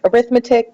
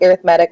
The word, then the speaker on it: arithmetic: into arithmetic sequences I know it looks like arithmetic but it's pronounced arithmetic when we're talking about sequences so by the